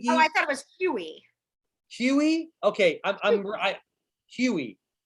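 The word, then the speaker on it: Hughie: i thought it was huey huey okay huey right sounds like h h-u-h-u-g-h-i-e so i don't pronounce the g huey like huey dewey louis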